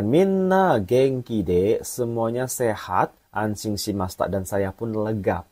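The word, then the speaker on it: 安心: Yombang anshin.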